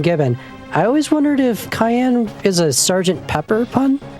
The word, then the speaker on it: Cayenne: Yeah, cuz it like his his it's it's like with the translation his name's kind of abbreviated, but it is like Cayenne like cayenne pepper.